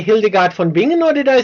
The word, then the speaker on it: Hildegard von Bingen: actually the first one, the coffin dance, and that was just I think just a few days before the Hildegard von Bingen cover.